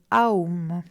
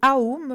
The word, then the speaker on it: Aum: Le mot sanskrit Aum se prononce comme A-U-M et représente la triple division du temps, état d'éveil, état de rêve et sommeil profond.